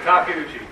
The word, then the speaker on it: Takeuchi: How you pronounce that? Takeuchi.